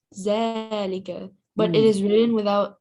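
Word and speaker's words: ذٰلِكَ: Zalika is pronounced zalika, but it is written without alif. It is written without alif, but we will pronounce it zalika, like this.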